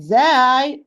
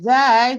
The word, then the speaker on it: ز: Sad, Sin, and Zay, they are pronounced tip of the tongue with the lower central incisor from inside, precisely the lowest part of the inner part.